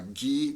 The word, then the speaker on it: Guy: This story was made to be analyzed using deconstruction, because deconstruction, this was written by Guy de Maupassant. His name is pronounced Guy, not Guy.